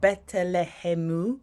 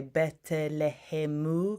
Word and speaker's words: Betelehemu: So we've got Betelehemu. Obviously, we say in English a Bethlehem, but we're going to say Betelehemu.